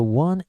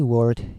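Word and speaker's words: を: So actually, instead of pronouncing this as wo, actually in Japan today, we've already changed it to simply o. Okay, so we pronounce this sound exactly same as this one here, o, because we use too many times this character.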